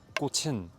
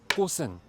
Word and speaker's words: 꽃은: And the same thing with 꽃. You're supposed to say 꽃은, 꽃은, but most Koreans, when I hear it pronounced, say 꽃은.